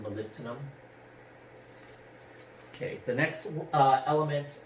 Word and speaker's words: molybdenum: some people might say but denim is actually pronounced molybdenum okay the next uh element we're going to